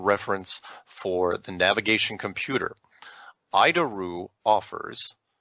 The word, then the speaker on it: ADIRU: So, the ADIRU system, also known as the Air Data Initial Reference Unit, we pronounce it IDARU.